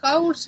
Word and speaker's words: hours: want to spent eight hours waiting their connect te fight mhm okay uh what ours the first letter H is not pronounced uh yes yes yes